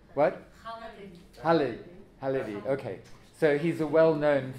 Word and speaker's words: Khalidi: Do I pronounce his name right? What? Khalidi.